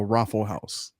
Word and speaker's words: ROFL House: it's gonna be called the rofl house pronounced the raffle house somebody's gonna take it